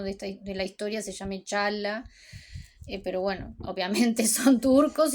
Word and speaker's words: Çağla: la pronuncian, pero nosotros, si la vemos en turco no vamos a escuchar la "g", así que son "Dooan" y Chaala".